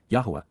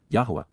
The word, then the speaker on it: Yahowah: Yahwa Yahwa God's personal name pronounced as guided by his Torah instructions on his high existence for our shalom reconciliation as our Eloha God.